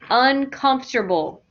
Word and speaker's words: uncomfortable: And I want everybody to say after me, uncomfortable. Uncomfortable. Uncomfortable. Uncomfortable. Good. Don't make that an extra syllable.